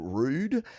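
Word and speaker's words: ROU'D: This is a band called Rude, and it's spelled ROU''D.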